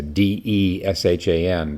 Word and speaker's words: Deshan: This Deshan, spelled in the Roman alphabet as D-E-S-H-A-N, but the way these things work, the E is pronounced like a U, like Shan, Deshan.